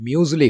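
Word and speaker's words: muesli: में आया है, और इंग्लिश में इसका प्रोनाउंसिएशन म्यूज़ली हुआ करता है। तो इस तरह से इंग्लिश का म्यूज़ली हिंदी उर्दू में आकर मूसली बन गया है, और इतनी अपनाइयत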